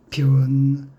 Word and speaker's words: 변완수: 발음은 좀 길게 변이라고 해야 합니다. 이름은 완수, 완전할 완자, 물수, 완수. 그래서 변완수, 변자를 조금 길게 이름 사이에 분명히 일순 포즈가 있게 변완수라고 점잖게 불러주시옵소서.